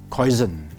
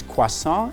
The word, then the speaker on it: croissant: Now, croissant is a French word, but I often hear people pronouncing it as croissant. Okay? So I think today is a good opportunity for you guys to learn some French word and pronounce it correctly in French. So this is croissant, and here the main vowel sound you hear is wa and on. So croissant. Repeat, croissant. Okay?